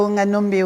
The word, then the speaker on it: Wonganombe: Oui, Onganombe.